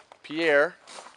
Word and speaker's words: Pierre: And as it turns out, Pierre is what? Pierre? Sorry. Well, I know Pierre. It's spelled the same way. Okay. But as it turns out, Fort Pierre? Pier, like a fishing pier.